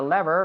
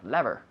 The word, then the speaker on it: lever: Palanca, yeah, like a lever, like Yeah. Okay. lever. Now you can say lever, or some people say lever, right?